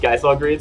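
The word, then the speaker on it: Gysahl Greens: me to um purchase geisol greens i don't remember how they pronounced they actually pronounced guy saw grades which surprised me in that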